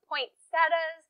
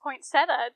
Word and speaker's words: poinsettia: Except Stacy, I don't think it's pronounced poinsettia. It's poinsettia. I thought I was happy to have Kelly here with me. So wait, you're saying that the plant that I'm doing the entire video on, I'm pronouncing wrong? Poinsettia. Poinsettia. There's no T. But there's two T's in. Not right here. Oh, so I'm saying point. Exactly.